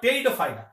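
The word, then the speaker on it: Pteridophyta: এবার দেখো এর পরে আমরা আসছি ফানবর্গ বা টেরিডোফাইটা। দেখো টেরিডোফাইটার বানানটা কিন্তু একটু আলাদা। ঠিক আছে, টেরিডোফাইটা বানানটা একটু আলাদা, কারণ এই বানানটার সঙ্গে তোমার উচ্চারণের কোনো মিল পাবা না।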